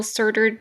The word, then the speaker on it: Surtur: eh let's do it serter it's serter it's yeah it's serter uh I believe it might also be pronounced CER I'm G just call